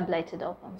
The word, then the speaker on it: blighted ovum: Maybe, am I even pronouncing it better? Is it blighted ovum? Yes, it's a blighted ovum.